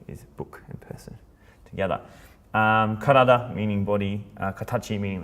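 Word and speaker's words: 体: Karada, meaning body.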